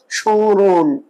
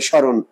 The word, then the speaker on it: স্মরণ: Normally ম থাকলে নাসিকের উচ্চারণ হবে না, এটা চন্দ্রবিন্দুর উচ্চারণ বলেছি না, স্মরণ। চন্দ্রবিন্দু ম ফলাটা যখন উচ্চারণ হয় নাসিকার হয়, কিন্তু এই ক্ষেত্রে পূর্ববঙ্গ উচ্চারণে নর্মাল হবে স্মরণ, স্মরণ হবে না।